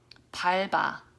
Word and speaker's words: 밟아: So 밟아. Okay, again, 밟아. This one is pronounced with the L sound first, and then the B sound gets moved to the next to the vowel.